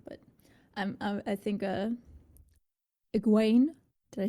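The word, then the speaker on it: Egwene: now cool uh aguain is going to be a little hard for me because it is spelled egg win in the show at least in the captions so my brain sees eggwin gwain gwain okay i'll get it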